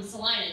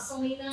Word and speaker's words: Salina: I want you to know that I have mispronounced that city's name for 27 years. I literally had someone in college, you're like, are you sure it's not Selena? I'm like, bitch, I grew up there.